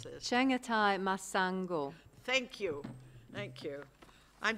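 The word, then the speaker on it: Chengetai Masango: I can never pronounce this. Chengatai Masango.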